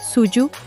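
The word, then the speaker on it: 蹴鞠: donde practicaban un juego llamado Kuyu, pronunciado Suyu, que literalmente significa patear la pelota.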